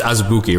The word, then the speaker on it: Azubuike: I think it's just Azubuike, right?